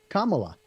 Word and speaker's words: Kamala: Kamala. Like Mama, but with a K.